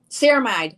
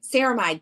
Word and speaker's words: ceramide: gonna help me uh ceramide ceramide that's how you say it ceramide hydrator see